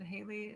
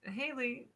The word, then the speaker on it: Haley: It's Haley, he says, pronouncing it correctly.